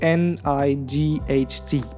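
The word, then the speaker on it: knight: letters for example K N I G HT there's a k at the beginning but it's silent so night or the W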